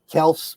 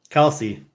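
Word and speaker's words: Kelce: Kelsey. Kelsey. Got to pronounce the E.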